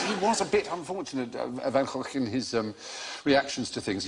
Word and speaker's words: Van Gogh: able to give you the correct pronunciation of Van Gogh, the great man's name. Sounds like an outbreak of pneumonia in a frog pond.